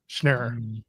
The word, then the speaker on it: Schneer: It's Schneer. Schneer. Also, he's a Jew, just like I am, so I'm pretty sure I can get it right.